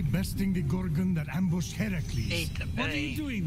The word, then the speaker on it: Heracles: Phoenix, after boldly besting the Gorgon that ambushed Heracles.